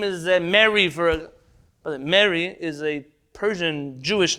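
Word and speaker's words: Mehri: for the record m-e-h-r-i it's a name it has an h in it so you pronounce it if you don't have a good farsi pronunciation but how dare you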